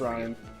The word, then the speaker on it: Rian: About Ryan Johnson. Rian? It's pronounced Ryan.